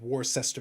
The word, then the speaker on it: Worcester: to reject your statement I'm going with war sister now okay I've changed my mind and now it's worcestor yeah and that is now Canon it's War sister uh you can't pronounce